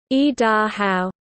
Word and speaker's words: Idaho: The first is, e, which in English conveys the idea of coming down. The second is da, which is the Shoshone stem or root for both sun and mountain. The third syllable, how, denotes the exclamation and stands for the same thing in Shoshone that the exclamation mark does in the English language. The Shoshone word is e-da-how, and the Indian thought